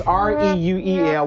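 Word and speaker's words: Reuel: and people will act it's Ru e l which we pronounce Ru that's right Ruel is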